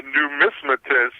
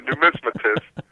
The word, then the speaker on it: numismatist: Yeah, it's a numismatist. I could have been a philatelist. That's someone who studies stamps, but I'm a numismatist.